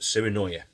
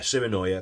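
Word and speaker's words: Sirenoya: The rods and the reels, it's pronounced siri noya. I've put it in the description. I couldn't remember what it was called this morning. It was too early, but yeah, siri noya.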